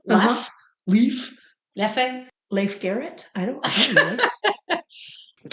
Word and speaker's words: Leffe: Okay, so now we're trying the Leffe, if you know how to pronounce that. I don't even know that I've ever seen it before. It's Leffe.